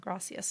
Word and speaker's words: gracias: They say it like a TH, but, usually in San Diego, we are used to Spanish with, gracias.